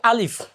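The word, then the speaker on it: ألف: অনেকে এখানে ফর জায়গায় প পড়ে, এখানে আলিফ লাস্টে ফ, আলিফ, আলিফের ফ হবে, অনেকে প পড়ে। প বললে এটা ভুল হবে, ফ, আলিফ শব্দটা হবে আলিফ।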